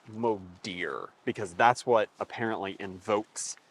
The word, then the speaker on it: Modir: day uh yeah when you said the motor no it's got to say it right it's Moder because that's what apparently